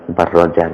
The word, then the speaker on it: Barrajan: tafsirnya Imam Haramain Wabni barjan wabni barjan barrajan bacanya sana barrajan kayaknya di naskah itu w w wni barrajan